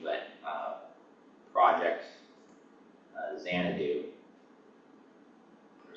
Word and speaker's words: Xanadu: thing in 1960 called, I might butcher the pronunciation, but Project Xanadu, or Xanadu.